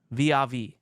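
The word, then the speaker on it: vis-à-vis: He says, I'm sufficiently baked to ask about revisiting the cheese ball vis-a-vis. Is it vis-a-vis or vis-a-vis?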